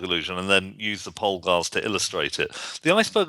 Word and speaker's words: Polgar: We'll come back to those few individuals, but then is it Polgar? Is that how you pronounce the chess Yes, prodigies?